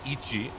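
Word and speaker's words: いち: to be very slow, almost like the number 1 in Japanese, which is pronounced Ichi.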